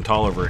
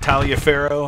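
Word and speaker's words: Taliaferro: two whole divisions on tolliver here and i believe that is how it's pronounced not talia farrow i think it's taller essex brigade pouring it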